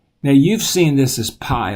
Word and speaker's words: pi: you've seen this is PI like PI R squared but when we're in Greek we pronounce it P just like our English P in the uppercase and the